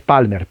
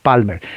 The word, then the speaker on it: Palmer: Se pronuncia, en español es Palmer, P-A-L-M-E-R, Palmer. Pero en realidad la A es O, la L casi no se pronuncia y es Palmer, ¿no?